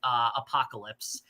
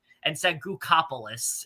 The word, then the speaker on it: apocalypse: The funniest part of this is when Goueli mispronounced apocalypse and said Gookopolis instead of that was so funny.